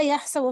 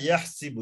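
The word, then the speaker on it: يَحْسِبُ: এখানে একটা জিনিস অনেকের উচ্চারণে ভুল হচ্ছে, হাসিবা ইয়াহসিবু, ইয়াহসাবু না, হাসিবা ইয়াহসিবু হবে, এটা খেয়াল করতে হবে। হাসিবা ইয়াহসিবু, ফাইলা ইয়াফঈলু এর ওজনে।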